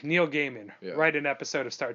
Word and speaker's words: Gaiman: it's okay to say Gaiman you don't need to say Guymon you don't need to say whatever you say it's Neil Gaiman as a PSA he